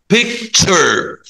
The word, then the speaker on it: picture: بيكتشر بيكتشر picture picture picture nature nature. يلا ننطق picture nature picture nature picture picture nature.